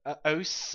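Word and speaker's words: osu!: I originally bought it for playing OS. For playing what? OS is what's it's usually pronounced, the way it's usually pronounced, but it is spelled OSU exclamation mark.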